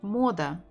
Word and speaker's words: Мода: Мода. Мода. Мода. Again, we have O and we can hear it even. Мода. Мода. Мода. Stress the first one.